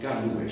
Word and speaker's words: Camões: C'est le grand auteur portugais qui s'appelle Camões et qui a écrit un livre qui s'intitule Les Lusíadas, hein, donc Camões, ça s'écrit C-A-M-O-E-N-S, Camões, et les Lusíadas, en fait, c'est tiré de son propre prénom, il s'appelle Luís.